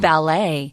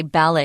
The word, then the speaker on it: ballet: And ballet. I don't say ballet, I say ballet. So they're both correct.